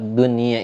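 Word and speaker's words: دنيا: Misalnya dun dun ia kalimat dunia kalimat dunia itu tidak kita baca secara hukum idghom kalau kita baca secara hukum Islam kita cara bacanya adalah Dwi Dwi ya tapi cara baca kalimat tersebut dengan cara baca hukum izhar dunia nun mati ketemu dengan huruf ya seperti itu atau kalimat qinwanun Kwan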